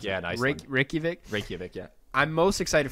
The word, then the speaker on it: Reykjavik: Reykjavik. That's how you pronounce it. Yeah, nice. Reykjavik.